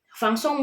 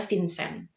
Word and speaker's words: Vincent: Fang Song mungkin kalau di Indonesia dibacanya Vincent gitu ya, soalnya ya itulah bahasa salah satu-satunya ya pelafalan nama aja di Indonesia dan di Prancis beda. Jadi manfaatkan kecanggihan teknologi yang